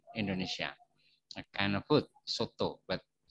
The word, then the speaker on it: soto: And this, there are two kind of pronunciation for the letter O. In the word, in this word, you read soto, but in this word, you read topi. Soto, topi. Soto and topi.